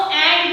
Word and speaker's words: ant: तो आपको ये डिफरेंस हमेशा याद रखना है कि जब भी स्पेलिंग में A-N-T लगता है दैट मींस वो एंट है, आंट नहीं है.